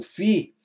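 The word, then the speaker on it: φῖ: fi o o o fi e vem de Filosofia é o nosso f em força né o fi corresponde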